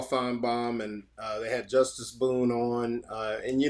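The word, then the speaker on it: Justus: the story uh that his name is pronounced it's it's spelled it's spelled you know pronounced justice but it's spelled just us j-u-s-g-u-n-u-s j-u-s-t-u-s and so as his mother um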